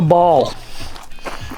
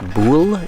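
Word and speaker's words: boule: away from the choias this is a ball is actually pronounced bull if you want to get really technical about it so we're just getting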